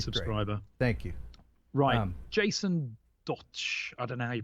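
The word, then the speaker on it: Dotsch: yeah really good subscriber Thank You Ryan Jason dodged at an arrow you pronounce his surname do t SCH dodge watch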